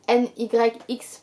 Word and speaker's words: NYX: parler des lip gloss NYX ou NYX pour la prononciation à la française.